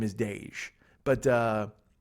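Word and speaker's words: Daij: It's Dej. Okay, that's how you pronounce his name.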